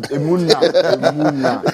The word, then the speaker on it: Emuna: That's Enuma there. Who's there? I'm Emuna. Emuna. I'm sorry. No, you are not the first person to get my name wrong.